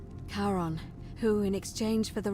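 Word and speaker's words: Charon: is a little off the name you heard wasn't Karen h-a-r-o-n as in Caron the ferryman of the Dead karon who in exchange for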